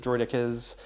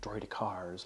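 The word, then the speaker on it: droideka: have 2 sets of droidicas, droidicars, depending on how you want to pronounce it. I guess because we're CIS, we should be saying it droidicars, like they say in the movies.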